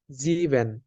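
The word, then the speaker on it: sieben: ক্ষেত্রেই বর্গের জ্বর মতন উচ্চারণ হবে এস এর উচ্চারণটা তাই আমরা এখানে সিক্স কে বলবো হচ্ছে জেক্স সেভেন কে বলবো জিভেন সেভেন জিভেন এইট জিভেন এর পরে এইট এইট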